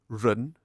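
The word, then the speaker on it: 人: Mandarin today, we say ren. Very different, isn't it? But Cantonese is similar. We say yan.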